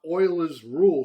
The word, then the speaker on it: Euler: But he was talking about Euler's Rule. So this Euler, I thought that was Euler's, but it's pronounced Euler's Rule.